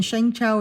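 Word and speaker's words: Shang Chao: So it's choose and then Shang Chow is spelled S H A N is in Nancy G C H AO.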